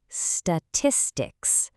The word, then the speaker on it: statistics: Now, really notice the pronunciation of this word, statistics. The stress hits right there on that second syllable.